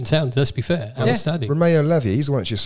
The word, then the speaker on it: Lavia: How do you pronounce his name? Romeo Lavia.